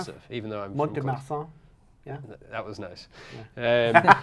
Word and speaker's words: Mont-de-Marsan: You're good at pronouncing stuff, even though I'm Mont-de-Marsan.